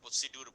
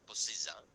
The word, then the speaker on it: procedure: Procedure, data entry procedure, error correction procedure, আমরা অনেক সময় এটা প্রসিডিউর বলি, আসলে এটা বোধহয় উচ্চারণটা প্রসিজার, paycheck distribution procedure, etc.